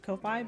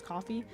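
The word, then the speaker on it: Ko-fi: I pronounced Kofi, but I think it's pronounced as coffee.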